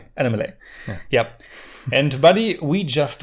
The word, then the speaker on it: Annamalai: Correct pronunciation? Annamalai. Annamalai.